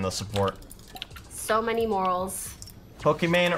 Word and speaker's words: Pokimane: Pokimane rhymes with Gucci Gang.